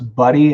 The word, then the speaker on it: buddy: How to pronounce buddy and body. The vowels are different. The B-U-D-D-Y is a short U, and B-O-D-Y is a short O. So buddy, body.